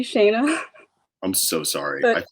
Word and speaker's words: Shana: We're here with Shana, the jeweler. Introduce yourself to the URLians. So it's actually Shana, I'm so sorry.